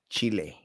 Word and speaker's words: chile: morning chili chili chile now if you're saying in spanish it's different chile thank you bella for